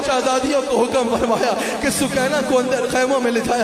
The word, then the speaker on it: سکینہ: حضرت سکینہ سلام علیہا، سکینہ کہا جاتا ہے، اصل میں نام سکینہ ہے، سکینہ اصل تلفظ سکینہ ہے، حضرت سکینہ سلام